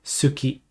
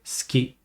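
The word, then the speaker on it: 好き: you say des and typically you don't say Suki you say ski now you will hear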